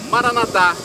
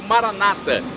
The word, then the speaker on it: Maranata: aramaico dialeto de Jesus eu clamo maranat como dizemos nós católicos ou Maranata como dizem nossos irmãos separados os evangélicos ou protestantes não importa a pronúncia o significado é é o mesmo vinde Senhor Jesus um